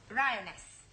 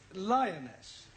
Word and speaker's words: lioness: the following lion roness lioness roness no l l r r you're not saying it right fairly sorry I know try saying roness lioness good well in future every time you see an L pretend it's an AR right Anna yeah feminine